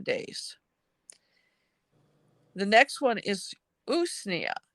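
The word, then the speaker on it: Usnea: day for 10 days the next one is usia it's spelled us Nea it's also called old man's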